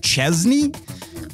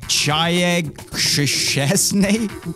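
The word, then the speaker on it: Szczęsny: okay but what about juventus goalkeeper then vojjak chesney voy chayag snay well no the polish at least and uh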